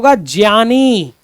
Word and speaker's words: ज्ञ: लेकिन हम लोग गलत बोलते हैं। ये बात ध्यान रखिएगा। ये ज्ञ है ये गलत हम लोग का उच्चारण इसको ज्ञ बोलेंगे। क्योंकि ये आधा ज प्लस ञ से मिलकर बनता है।